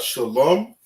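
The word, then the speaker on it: שלום: So right here we got shalom, which is peace.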